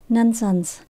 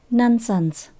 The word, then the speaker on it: nonsense: bậy bạ Linh tin chúng ta nhấn âm đầu tiên nha nonsense tận cùng mình nhớ có chữ S nha nonsense Why bother trusting those